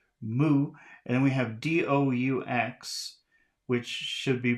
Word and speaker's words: doux: And then we have D-O-U-X, which should be pronounced do.